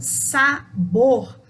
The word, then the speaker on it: sabor: Já a palavra sabor, o bor tem o som mais forte, também na última sílaba, mas não recebe acento.